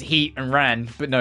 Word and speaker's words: Heatran: know it's Diago and Palia or like Heatran and I say Heat Ran because it's heat and ran but no you pronounce the T as part of the second word so it's heatan and